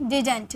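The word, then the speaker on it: didn't: Okay, इसे हम डिंट भी बोलते हैं। देखिए इसकी प्रोनाउंसिएशन दो होती है, या तो आप डिंट यूज कीजिए या तो आप डिडंट यूज कीजिए, दोनों इसकी प्रोनाउंसिएशन होती है।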